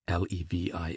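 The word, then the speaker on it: Levis: There were in Madame Dat's salon some very noble ladies named Metha Noe Levy L E V I S which was pronounced Levi Kambis C A M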